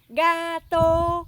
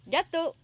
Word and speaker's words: gâteau: Et enfin, nous avons gâteau pour dire gâteau. GA se prononce ga. Et tôt, comme tôt ou tard, il est tôt. T-O avec le O ayant son chapeau. Tôt. Accent neutre, gâteau.